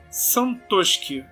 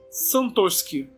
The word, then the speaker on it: Santoski: O Mike me respondeu: a pronúncia do meu nome é Santoski, é polonesa.